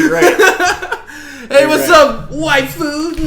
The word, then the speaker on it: waifu: I'm gonna ask, what's a waifu? Waifu, that's Japanese / anime slang for wife. For wifey. Oh, wifey. Okay. It's actually in the name, waifu, but spelled with AI.